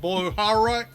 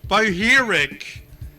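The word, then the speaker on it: Bohairic: Interior Design in Coptic, Sahidic, Boharak. Sorry, I pronounced that wrong. Boheric, Demotic.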